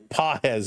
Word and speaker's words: Pages: So here is Fisher against Pages now. Pages, excuse me. Pages is the correct pronunciation.